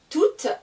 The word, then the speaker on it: tout: Ici, je ne vais pas entendre le T.